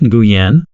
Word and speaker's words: Nguyen: He said it's pronounced Nguyen. Those familiar with Spanish, it sounded similar to Hawaiian. It's like the Engan singer. He said that when or when are the closest most Americans can get, so just use that.